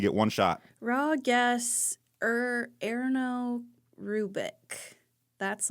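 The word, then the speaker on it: Ernő: Erno. Erno Rubik. Erno? Yes. I got that one. Is it Arno? Or how do you spell it? ERNO with smatterings of dots up some.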